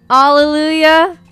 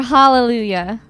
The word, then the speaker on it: hallelujah: and eggs Oh No Alleluia or hallelujah you pronounce the H cuz it's there I mean okay but